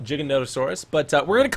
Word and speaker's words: Giganotosaurus: But we're going to try to tame a giga, which is actually pronounced Jiggonotaurus, but we're going to call it Giga because